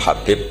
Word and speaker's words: Habib: Ada yang nulis Abi Abdurrahman Habib As-Sulami. Itu di harokatnya kitab itu ada yang nulis Hubab. Yang benar, oh enggak, yang benar itu bacanya Habib.